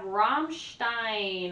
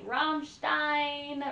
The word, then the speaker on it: Rammstein: in my day-to-day life number 25 we have Ramstein I think I'm finally saying it right Rammstein Rammstein um yes Ramstein um industrial metal I